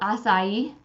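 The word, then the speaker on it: açaí: so I have a question this is called acai is that how you pronounce it yeah yeah yes okay this card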